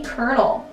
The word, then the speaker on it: Colonel: Coming in at number 9, we have the Colonel. And I hate how Colonel is spelt colonial, like C-O-L-O-N-E-L. Like, where's the cur sound? There's no R.